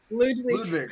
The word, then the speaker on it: Ludwig: I don't think I've ever actually heard it pronounced, Ludwig. But it's Ludwig.